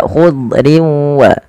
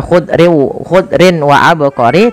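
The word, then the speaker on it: خضر وعبقري: Memasukkan tanwin kepada huruf waw, sehingga bukan lagi dibaca khudrin wa abqari, tapi khudriu sambil ditahan dengan gunnah sepanjang 2 harokat.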